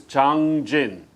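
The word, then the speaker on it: Jangjin: of chinese character and the actual korean pronunciation of that chinese character is zhang jin but japanese they pronounce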